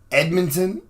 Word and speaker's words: Edmonton: shooting back he went to your city Edmonton Edmonton that's how you say it believed both shootings